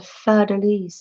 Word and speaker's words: fleur-de-lis: And look at this one with a fleur-de-lis on it. That's how you pronounce it.